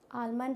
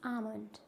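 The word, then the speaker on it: almond: कि काल्ट्स काफ half आमंड आलमंड होता है क्या नहीं इट्स आमंड बाम काम पाम सामन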